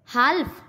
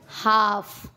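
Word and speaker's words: half: काफ, हाल्फ, नहीं नहीं नहीं, हाफ।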